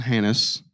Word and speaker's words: Hanus: Hannes. It's spelled Hanus, and that's all I'm going to say.